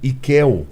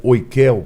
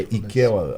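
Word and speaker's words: οἰκεῖν: Ikel, ou oikel, como alguns falam, mas é Ikel a melhor pronúncia, é você morar.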